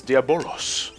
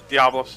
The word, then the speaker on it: Diabolos: for all this is diabolos diablos diablos well i say diabolo so that's kind of how it's spelled well the i think that it was supposed to be silent yeah yeah that order